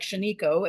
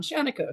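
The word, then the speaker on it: Shaniko: politely recently by a friend on how to pronounce it um I thought it looked like sheno and I thought that sounded cool and that's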